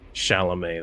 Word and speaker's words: Chalamet: Because I assume it's not Chalamage. Well, he's French, so it's definitely Chalamet then.